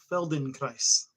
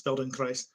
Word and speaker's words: Feldenkrais: There's a practice called if I'm pronouncing it right, it's Feldenkrais. It's German. This guy, his name is Feldenkrais, and he created a